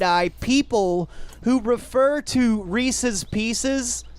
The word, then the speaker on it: Reese's Pieces: people who refer to Reese's Pieces as Reese's PCs wait that's not how you say it Isis fly a plane